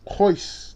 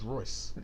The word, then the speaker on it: Royce: Hoyce, the character played by Adrian Royce. Brody, Hoyce. I thought it was Royce. I'm pronouncing it the way Hoyce Gracie says his name, okay?